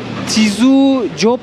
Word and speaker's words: Tz'utujil: Nasıl okunuyordu? Tizu Job diye okunuyordu.